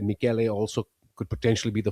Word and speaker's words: Michele: think it's the musical sound, Michele.